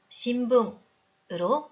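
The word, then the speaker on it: 新聞: 발음도 한 박으로 발음을 해야 하니 우리말 받침처럼 신붕으로 읽으면 안 됩니다. 신붕 4박으로 정확히 읽어주세요.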